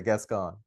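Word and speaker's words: Gascón: been very outspoken about gas gon am I saying it right gas gone gas gon yeah gas gone what are your views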